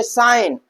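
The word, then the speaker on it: sign: क्या पढ़ेंगे, साइन। और क्या पढ़ेंगे भैया, फॉरेन। क्या पढ़ेंगे, फॉरेन। तो ऐसी जगह पर हम जी का प्रोनाउंसिएशन नहीं करते हैं।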